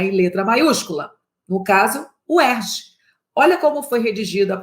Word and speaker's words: UERJ: Eu falo UERJ. UERJ. Eu dou 2 paradas. Eu crio 2 sílabas.